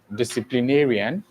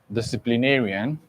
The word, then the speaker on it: disciplinarian: So here you have the final or last syllable. Do you understand? And then you have second to the last syllable. second to last syllable disciplinarian.